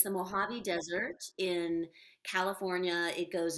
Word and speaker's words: Mojave: pronounce that the mojave the j is like an h yeah so it's a it's the mojave desert in california it